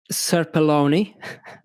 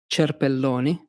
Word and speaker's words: Cerpelloni: In English, it's pronounced Cerpelloni, but in Italian, it's Cerpelloni.